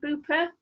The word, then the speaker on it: Beaupre: Beaupre, they pronounce it Booper, and in the old place, in the stream, there's all watercress.